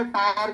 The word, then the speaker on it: tier: ship में कौन सा टायर का इंजन था, उसमें कितना टायर था, 3 टायर था कि 4 टायर था, बोलो, टायर तो नहीं था, टीयर, उसको टीयर बोलेंगे, चलो मेरा प्रोनाउंसिएशन थोड़ा